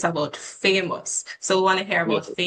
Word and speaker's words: Phamous: Actually, it's really pronounced famous, but some Okay. people do say famous, but it's at first it's like it's weird how that name came to be.